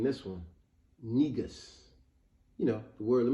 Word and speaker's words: negus: gonna name this one negus you know the word let me spell it out for you n e g u s now of course I know it sounds like nigga and that's why I'm